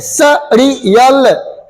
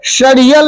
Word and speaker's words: सड़ियल: ऐसे सड़ियल, शड़ियल नहीं।